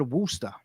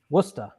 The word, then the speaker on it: Worcester: ours there in Boston they just said woosta is that right Worcester that's a that's such